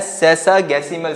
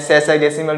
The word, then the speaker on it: sexagesimal: Number 1 की अगर बात की जाए तो वो हमारे पास है सेक्सागेसिमल सिस्टम। सेक्सागेसिमल भी बोलते हैं, सेसागेसिमल भी बोलते हैं, डिफरेंट प्रोनाउंसिएशन यूज करते हैं, देयर इज नो इशू।